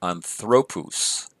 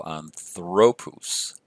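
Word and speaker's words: ἀνθρώπους: more here we'll do on throw puse on throw puse notice my accent is on this syllable here so on throw puse so it looks like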